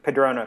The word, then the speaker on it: Cardrona: take place down there in cardrona i think is is that how it's pronounced yes padrona correct um so on our